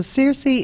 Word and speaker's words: Circe: So CIRCE is, ironically, it's CIRCE that, you know, if you watched Game of Thrones, it's the same type of pronunciation, but a different spelling.